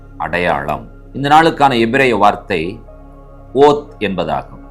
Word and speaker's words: אוֹת: இந்த நாளுக்கான எபிரேய வார்த்தை ஓத் என்பதாகும். அலஃப் வாவ் டாவ். உயிரெழுத்தோடு சேர்ந்து உச்சரிக்க வேண்டும் என்று சொன்னால் அலஃப் கோலம் வாவ் டாவ். இதை உச்சரிக்கும் விதம் ஓத்.